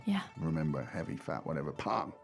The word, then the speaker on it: 胖: 胖 Pang. Fourth tone. That's right. And fourth is a heavy sound. There you go. Yeah. Remember, heavy, fat, whatever. Pang.